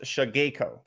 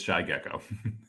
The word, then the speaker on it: Shy Gecko: She says it's pronounced Shageko. Incorrect. It's Shy Gecko. Shy Gecko. It is now and forever Shy Gecko.